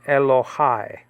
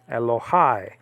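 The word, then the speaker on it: אלהי: Okay, so this could be pronounced Elohai. Elohai.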